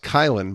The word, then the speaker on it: Caylin: It's pronounced Caylin, but it's spelled Caylin, and I made that